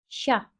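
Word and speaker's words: chat: mesela Bir örneğimizde bakalım c ve h harfi yan yana geldiğinde ş oluyor şa kedi g ve N harfi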